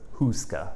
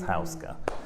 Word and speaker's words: Houska: Everyone still says Houska when it's Houska. But anywho, ska. Ska. Welcome.